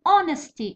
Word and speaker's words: honesty: مثلا honesty وش هو silent letter؟ هو h.